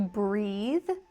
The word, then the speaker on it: breathe: For the verb, it's voiced. Breathe the breathe. And for the noun, it's unvoiced. Breath.